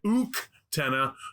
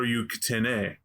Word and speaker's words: Uktena: That's Ukten, Uktena, or Uktene, depending on how fancy you want to be. I've heard both of those pronounced.